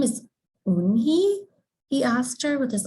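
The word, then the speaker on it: Unhei: joey she nodded slowly yes it's pronounced and it means grace mr kim added yoon hi joey said slowly and this time perfectly with me don't smile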